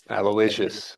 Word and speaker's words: Aloysius: And then when it got down to the rhyme, it uh was what rhymes with delicious? Aloysius.